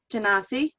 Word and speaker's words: Genasi: He's an artificer that has been reincarnated from being a water Genasi. Genasi. Nope. You tried though. Trying to say it properly.